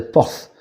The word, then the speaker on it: Portz: Enfin, il s'inscrit PORTZ, mais si on le prononce avec notre prononciation de maintenant, on dirait ports, mais en réalité ça se prononçait pas ports, ça se prononçait porth.